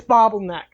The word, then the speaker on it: Bobbleneck: It's Bobbleneck. It's pronounced a bobbleneck. Which multiple times. I think it's Bobbleneck. I love that it's even called that because it's not bubble, it's bobble.